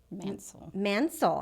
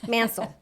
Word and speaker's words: Mancil: Today I have the beautiful Melanie Mancil. I said it right. Mancil, Hansel, Cransel. Mancil.